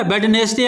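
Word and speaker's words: Wednesday: वेडनेसडे अपन बोलते हैं? नहीं बोलते, अपन क्या बोलते हैं? वेडनेसडे। ठीक है, तो यहाँ पर डी क्या हो गया? Silent letter.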